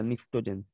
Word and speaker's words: pnictogen: PNICTOGEN, P silent क्या था, निक्टोजेन।